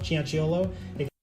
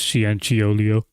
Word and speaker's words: Cianciolo: I think in another video he said it's Cianciolo, and in this video he said it's Cianciolio. I know what that's like.